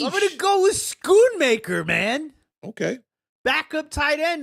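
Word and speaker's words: Schoonmaker: bit here she I'm going to go with scoon maker man okay backup tight end no Jake Ferguson I think scoon maker had 12 Sho maker but I got you is it Sho maker the sea is silent yes oh like Schultz Schultz well in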